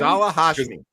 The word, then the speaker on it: Ghazala Hashmi: How do you pronounce this person's name? Ghazala Hashmi. Ghazala Hashmi, who outside observers said won the debate.